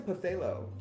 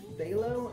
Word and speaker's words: phthalo: like do you mean velo and i'm like oh is it pronounced stay low and you go up to the bottle it's p-h-t-h-a-l-o how was that phthalo blue like get rid of the ph and the whole thing